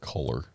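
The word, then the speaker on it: Color: Her name spelled the way I pronounced the word Coler. C O L O R. Coler.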